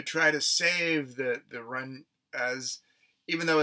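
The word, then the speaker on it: Mrunas: tribe called the the run knees it's actually spelled m-r-u-n-a-s or the run as uh if the m is silent um the missionary society wants to try to save the the run as even though it's obvious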